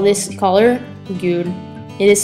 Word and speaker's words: gul: color yellow in Norway we call this color gul It is spelled g u l try it gul This is the color Green